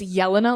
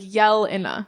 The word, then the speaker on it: Jelena: you up even more I just like to say it's Jelena like you're yelling like Jelena yeah and then it